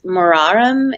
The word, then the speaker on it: Muharram: first month of the Islamic calendar which is Muharram is that the right way to say yeah